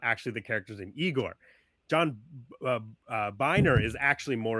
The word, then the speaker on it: Igor: One is that the character's name is Igor, not Igore.